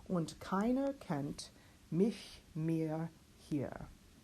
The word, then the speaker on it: hier: And finally, H at the beginning of the word we do pronounce hier.